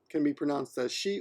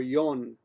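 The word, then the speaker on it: 四: 4 can be pronounced as she or yon, like that.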